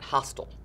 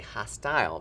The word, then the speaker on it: hostile: some people pronounce that hostile but we want to say hostile because it has that long i sound at the end and that might mean